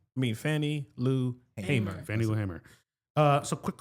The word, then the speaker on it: Hamer: Is it Hamer or Hammer? I think it's Hamer. It's Hamer? Okay. It's pronounced Hamer. Yeah, that's Only right. one M. Thank you. I appreciate that. Hamer. No relation to MC Hammer.